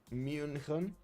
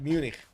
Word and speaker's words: München: Wait, it is either Munich or München. München. So not Munich. Okay, so it is Munich or München. Like that, Justice, like just a hard K at the end when you want to pronounce it in English.